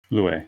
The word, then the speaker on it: Lue: Lue? Lue, yeah.